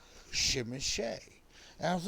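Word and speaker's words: Tzimisce: So Do you know why I call it a shimishay? It's Ukrainian? a Romanian speaker. I sent him the word. Right. And he said, and I quote, "This is pronounced shimishay."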